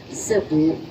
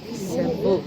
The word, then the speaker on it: Sebu: Yes, yung S-E-B-U po, yung tamang pagbigkas po nun ay Cebu. Cebu. Everybody say Cebu.